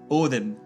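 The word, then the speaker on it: Óðinn: The pronunciations of Valhöll for Valhalla and Odin for Odin are examples.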